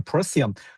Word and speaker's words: Procyon: It's the fixed star and I'm not sure how you pronounce this, Procyon?